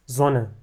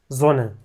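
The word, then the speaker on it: Sonne: بيتنطق فيها بشكل مختلف اول كلمه عندنا اس زون فهنا الاس بتتنطق زي حرف الزي اس زون اللي هي الشمس بعدين عندنا اس شولا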